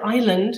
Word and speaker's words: island: comes through French or the word Island which has that s in it which we no longer pronounce however writing a book